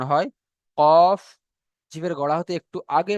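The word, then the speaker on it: ك: 5 নম্বর মাখরাজ জিভের গড়া হতে একটু আগে বাড়িয়ে এবং তার বরাবর উপরের তালুর সাথে লাগিয়ে উচ্চারিত হয় কাফ।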